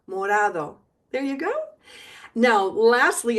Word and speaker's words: morado: Just a gentle tap of your tongue on the roof of your mouth. Morado.